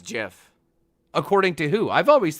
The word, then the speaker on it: GIF: pronounced gif not gif i know what it's pronounced okay so is it gif or jiff it's jiff according to who i've always thought about the